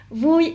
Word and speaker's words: vui: Dans la prononciation, vui est un accent neutre. U et I se prononcent oui. Comme quand vous faites mal, oui. Le U en vietnamien se prononce ou et le I se prononce I.